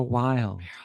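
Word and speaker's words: Wylde: And for that, you look for Wild. Wild is spelled W-Y-L-D-E.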